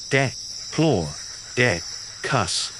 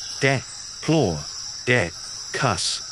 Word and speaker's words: Diplodocus: this was around 160 million years ago so pronounce it repeat after me de PL de cuss excellent one more time de PL de cuss great the map of the world in the